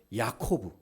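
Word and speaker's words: יעקב: 그래서 야곱은 야코브 발음이 비슷합니다.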